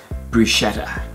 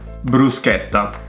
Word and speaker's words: bruschetta: before I was gently instructed how to correctly pronounce them. Okay, so you ready? Let's start! This is a really common one. Bruschetta. Bruschetta.